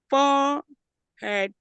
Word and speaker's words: forehead: The H is silent. For head forhead.